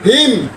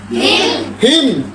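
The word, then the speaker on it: hymn: হিম হিম হিম, এইস ওয়াই এম এন, হিম। তাহলে এখানে এন এর উচ্চারণ হয় নাই।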